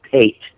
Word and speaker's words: Pate: It's pronounced Pate. Steve Pate.